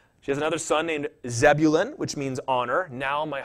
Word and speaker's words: Zebulun: A little different than Zebulun, but I don't know if I can get used to saying Zevulun.